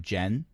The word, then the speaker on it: Gen: svart has decided that you can call him jen g-e-n short for in-gen but that prevents the